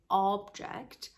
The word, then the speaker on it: object: it becomes along all we say object and it's a noun that means item or it sometimes means purpose and objective if you put the stress on the second syllable the O becomes a schwa sound the most common vowel sound in English so is a object object to object to something